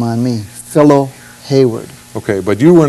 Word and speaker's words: Philo: and his name is phillo lorne harris phillip that rhymes with pillow okay but not philo but not filo no but it's spelled the same way as follow p-h-i-l-o anyway he named his